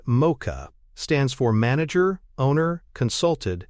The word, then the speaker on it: MOCHA: Mocha, pronounced Mocha, stands for manager, owner, consulted, helper, and approver, and can be effective in coaching-heavy or mentoring environments.